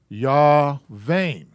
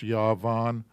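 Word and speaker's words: יון: commands under the valve we have yah vein or yah von excuse me yeah that's yavon and that's this word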